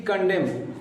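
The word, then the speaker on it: condemn: rule होता है वो रूल होता है कि अगर ए के जस्ट बाद एन आ जाए यानी कि एम आ रहा है और एम के जस्ट बाद एन आ जाए तो उसमें एन का उच्चारण हम नहीं करते हैं एन का प्रोनंसिएशन नहीं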